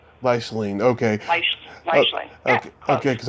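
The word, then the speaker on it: Leichtling: By the way, how do you pronounce Jerry's last name? Lichstein? Leishling.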